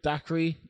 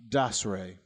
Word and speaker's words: Dacre: Dacre or Dacre? Dacre. Dacre Montgomery. I mean, come on, man. Don't be so fucking upper class. Dasray. Fucking bring it down a couple levels.